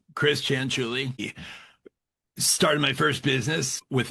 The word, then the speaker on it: Cianciulli: So I'll say it. It's Cianciulli, like a chinchilla, or like it's spelled. Chris Cianciulli.